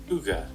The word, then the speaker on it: hygge: had to play it to make sure i pronounce the name correctly so this is how you say it uga means a quality of coziness and comfortable conviviality